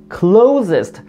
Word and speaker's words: closest: This, this is the closest, closest. Just, closest 아니에요. Close, z, 요 진동 소리, z, closest.